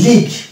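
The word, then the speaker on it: league: লিগ, এখানে আমরা এল এ ল পাচ্ছি, ই এ দুটো মিলে পাচ্ছি, অবশ্যই জি এ গ পাচ্ছি, ইউ সাইলেন্ট এবং ই সাইলেন্ট, এখানে দুটো লেটার সাইলেন্ট পাচ্ছি, কিন্তু আমাদের আলোচ্য বিষয় হচ্ছে ইউ সাইলেন্ট, তাই আমরা এখানে দেব যে ইউ অনুচ্চারিত থেকে যাচ্ছে, অর্থাৎ যেহেতু ইউ এর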